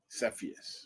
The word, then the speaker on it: Cepheus: targets in Cepheus, and we're going to have pronounced Cepheus. Is it Cepheus?